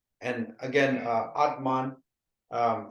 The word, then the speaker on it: Atman: means M and again Atman um it's spelled a t m a n but we always say Atma Atma so the N is a silent word but it's spelled Atma